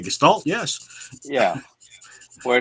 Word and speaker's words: Gestalt: Is that how you pronounce it? If you're trying to say Gestalt, yes.